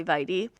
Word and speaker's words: vitae: CV stands for curriculum vitae, or there's some other pronunciations out there, but I just say vitae.